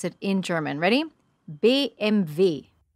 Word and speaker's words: BMW: english-speaking countries we say BMW but in german-speaking countries the first two letters are the same but the last letter is different so this is how you pronounce it in German ready B MV b MV there you